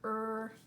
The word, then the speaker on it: write: write the word right which letter is going to be silent you are right it is the W so you just hear right right as in to